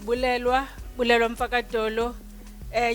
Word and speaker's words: Bulelwa: Um, my name is Blewa H. You pronounce my name like you say the city in Zimbabwe in case you don't know how to say it.